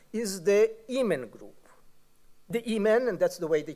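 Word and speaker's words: Emin: The Imen, and that's the way they pronounce it, which is today is called also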